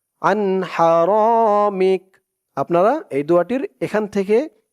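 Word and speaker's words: حرامك: Calf জবর কা, আন হারামিক। আপনারা এই দোয়াটির এখান থেকে এই পর্যন্ত বলে এখানে থামবেন। থামলে উচ্চারণ হবে আন হারামিক। মিক, মিম দিয়ে কাফ ধরলে যেমন উচ্চারণ হয় এখানে তেমন উচ্চারণ হবে, মিক।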